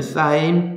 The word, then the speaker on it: sin: 여기에서 삼각비 정의부터 보셔야 되는데, 삼각비 정의 처음에 이렇게 sin 되어 있는 거 있죠? 얘를 사인이라고 읽어요. 얘는 사인 B, 얘는 코사인 B, 얘는 탄젠트 B.